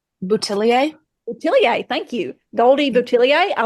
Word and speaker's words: Boutilier: the uh the goldie uh how do you pronounce her last name boutilier boutilier thank you Goldie boutilier I looked her up